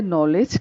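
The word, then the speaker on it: knowledge: alphabet silent है हैं next word है नॉलेज के ऐनोड व्यंजन और स्वर में कि के साइलेंट है कि के एन रोटी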